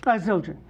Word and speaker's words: Zildjian: Zildjian.